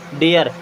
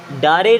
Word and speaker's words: dare: Then DARE, इसे पढ़ते हैं डेयर, क्या पढ़ते हैं, डेयर, डारे नहीं, क्या पढ़ते हैं, डेयर।